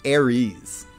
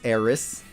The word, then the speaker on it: Aerith: Eris please is it I think it's supposed to be pronounced Aries I think that was the the correct pronunciation and we've all been saying it wrong uh this is the